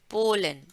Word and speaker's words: Polen: दूसरा दूसरा फ्रेंड जो है मारिक, मारिक कहाँ से आए हैं, वो आए हैं ऑस पोलन, पोलन, देखिए जैसे पोलन ग्रेन्स होते हैं ना, ऐसे पोलन, एकदम इसका सरल उच्चारण है, ऑस पोलन, फ्रॉम, ये